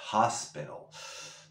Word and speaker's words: hospital: La T, como está entre vocales o sonidos vocálicos, la pronunciamos como una R suave, hospital.